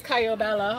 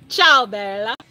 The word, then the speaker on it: ciao bella: Everybody says Caio Bella, but okay. Italians know. Oh, okay. So what? It's how do you pronounce it correctly? Ciao Bella.